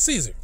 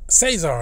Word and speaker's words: Cesar: But you know what I'm talking about, Caesar. Cesar. And that explains why his last name is Cesar. So they didn't pronounce it Cesar when it should have been Cesar. But they kept calling him Caesar.